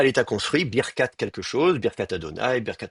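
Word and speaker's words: ברכת: Et donc vous êtes à l'état construit, Birkat quelque chose, Birkat Adonai, Birkat Abraham, la bénédiction du Seigneur, la bénédiction de Yahvé. Vous êtes à l'état construit et vous avez donc deux syllabes fermées, Bir, Kat.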